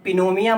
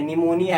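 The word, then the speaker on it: pneumonia: इसको पिनोमिया मत पढ़ना, पी साइलेंट है, निमोनिया है, ये कहीं पता चले आप पिनोमिया पढ़ लो, निमोनिया, ट्यूबरक्लोसिस, एड्स।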